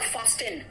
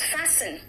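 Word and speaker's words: fasten: फैसिन इट इज नॉट फास्टेन इट इज नॉट फास्टन इट इज फैसिन Hasan नहीं है बेटा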